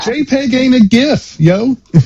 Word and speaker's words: GIF: If you're pronouncing it with a J, it's not graphic.